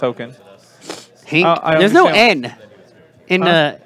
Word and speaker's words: Haakon: some Hankins hulking I don't care it says hakin haken I know it's pronounced really yeah I know it's pronounced oaken hey there's no end in by the a